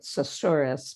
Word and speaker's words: susurrus: I was once looking up the word susurrus to see which of the consonants were doubled. And actually, the dictionary pronounces it susurrus, but I think they can have that. Mine is susurrus, and it's the sound,